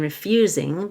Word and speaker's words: refusing: teeth refusing to budge I'll stress the you in refusing because it's a verb the S will sound like a z refusing the two can